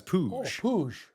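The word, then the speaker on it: Puig: I thought it was Um isn't it P U I G, like like the old baseball player? Yeah, it is, but apparently he pronounces it as Pooj.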